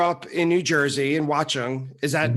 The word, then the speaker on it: Watchung: So according to my notes, you grew up in New Jersey in Watchung. Is that pronounced right?